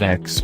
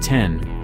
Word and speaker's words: X: Skyactiv X, pronounced X not 10, is the powertrain sign of the next iteration